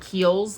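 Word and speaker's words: Kiehl's: kid do you guys know um the brand keels like it's k h e i l apostrophe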